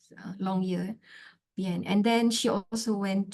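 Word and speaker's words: Longyearbyen: to two places the long year ban uh the right pronoun pronunciation is long year bien long year bien and then she also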